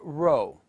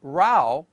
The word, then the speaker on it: row: different meaning but notice the word row which means line and the word rau which means argument are spelt the same have different pronunciation and different meanings this is called homograph